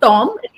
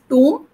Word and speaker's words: tomb: okay it is not Tom tomb and all the MB words remember the B will be silent so Plum Dum yeah